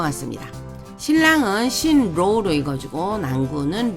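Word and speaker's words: 新郎: 그 다음에 낭군 많이 쓰이는 한자는 아니지만 일단 발음만 좀 유의해서 보시면 될 것 같습니다 신랑은 신로우로 이거지고 낭군은 로우 쿵으로 읽어줍니다 쓰는 순서 가겠습니다만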